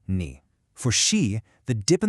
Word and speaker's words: 你: For ni, a lot of beginners will use a flat first tone, saying ni, instead of that dipping and rising third tone, ni.